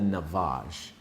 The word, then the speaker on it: Navage: pick up on Amazon, and it's called the Navage. And I'll spell it out for you right here.